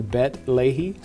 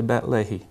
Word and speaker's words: Beit Lehi: Bet Lehi? You are. Okay. You are. Some people say Lehi instead of Lehi, but in Israel they'll say Bet Lehi.